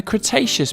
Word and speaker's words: Cretaceous: about a hundred million years ago in the cretaceous period kra tay chess so what have we learned we learned